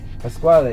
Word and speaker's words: Pasquale: I say it right it's the squall a Pasquale Rotella but people see as well that's why